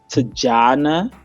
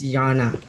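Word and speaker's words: Tatjana: 2 beautiful ladies, names of Tajana. I don't know if that's how you pronounce it. Tajana. Maybe Guyana. Yeah, maybe get Tajana. Schoenmaker. It's Afrikaans. Definitely, it's Yana. There's no Tajana. With the T.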